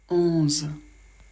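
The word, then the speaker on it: onze: dans la barre d'info 11 o plus n ça fait un le Z on le prononce Z comme une abeille ça fait 11 il y a pas de problème pour la liaison parce qu'on le prononce toujours de la même manière on s'arrête au Z voilà 12 O plus U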